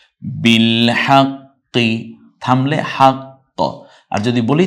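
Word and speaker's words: بِالْحَقِّ: এতো জবরের পর অতএব শুধু ওয়া এর এককটা উচ্চারণ করে যাব বিল হাক্ক বিল হাক্ক থামলে হাক্ক আর যদি বলি তাহলে হাক্ক কারণ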